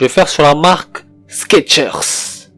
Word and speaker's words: Skechers: Je vais faire sur la marque Skechers. Et non, c'est pas Skechers, c'est Skechers. Il n'y a pas de T dans Skechers, c'est faux. Il n'y a pas de T. En fait, c'est sans le T.